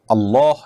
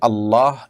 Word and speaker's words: আল্লাহ: দেখুন এটা ঠিক যে আরবি উচ্চারণের যে রীতি সে রীতি অনুপাতে আল্লাহ এ শব্দটার আগে যখন জবর বা পেশ থাকবে তখন সেটা একটু মোটা হবে মুখটা হালকা গোল হয়ে আসবে আর না হলে সেটা হবে সাধারণ স্বাভাবিক যেটাকে বারিক বলা হয় এখানে পোড় আর বারিক বলতে দুইটা আপনার আছে অর্থাৎ একটু মোটা হবে একটু চিকন করে হবে উচ্চারণটা র ক্ষেত্রে